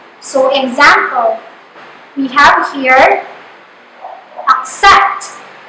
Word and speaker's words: accept: So example, we have here accept. The syllable ac is the unaccented syllable and the syllable set is the stressed syllable.